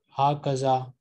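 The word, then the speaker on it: هكذا: Ha kaza, there is an alif between ha and kaf which is pronounced and not written.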